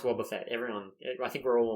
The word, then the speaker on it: Wobbuffet: it a war Buffet I know it is pronounced Wobbuffet everyone I think we're all on board of